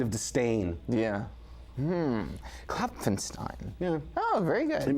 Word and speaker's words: Klopfenstein: is it CL Clen kloin it's kapenstein kapenstein CU I was going to go with stuff yeah it's P that gets people which and usually if